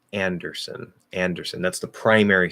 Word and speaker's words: Anderson: In the last syllable, it has the cot vowel instead of son. Okay, so Anderson. Anderson. Anderson. Anderson. Anderson. I would make that a little clearer. Anderson. Anderson. Anderson. That's son. Son isn't even a word. It just sounds like under and then son, whatever son would be.